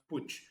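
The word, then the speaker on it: Puig: you don't know guys it took me ages to learn how to pronounce pooch because it doesn't sound like it you know it's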